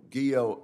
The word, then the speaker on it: Guillot: General Guillot, I note that your name rhymes with hero.